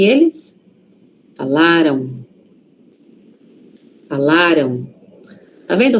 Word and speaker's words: falaram: Aqui a sílaba forte tá no lá. Falaram. Falaram. Aquele M ali. Tem som de o aqui, ó. Falaram. Tem, mas é um O muito suave. Por quê? Porque a sílaba forte tá antes, não está lá no M, tá aqui antes, ó.